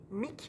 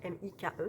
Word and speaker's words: Mike: en 1956 et alors Mick elle dit Mick mais ça s'écrit Mike m i k e donc je dis Mike Mike Riva veut devenir